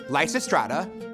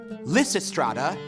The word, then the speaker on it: Lysistrata: serious minded and determined there are actually three ways to pronounce her name Lysa strata Lysistrata and Lysistrata next is Meera need